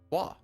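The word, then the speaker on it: Roy: Correct pronunciation, R-O-Y. Waugh. Patrick Waugh. Unless he's on the Habs, then it's Patrick Waugh.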